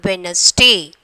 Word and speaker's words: Wednesday: And then eighth one, Wednesday. Wednesday. So D is the silent letters.